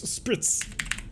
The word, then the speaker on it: spritz: you spell that again no it's spritz i always call them spirits but spritz the two